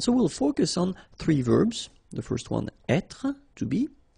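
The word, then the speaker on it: vert: remember rou there so masculine form you don't pronounce the final T there feminine form ver so listen carefully I don't say but it's ver ver okay so as usual this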